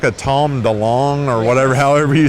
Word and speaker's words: DeLonge: Is this like a Tom DeLonge or whatever, however you say his name? Yeah. DeLonge.